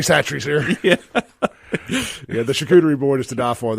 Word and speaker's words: charcuterie: And I can pronounce that correctly after calling it kachatri or whatever I've called it throughout my whole life. You know, like charcuterie.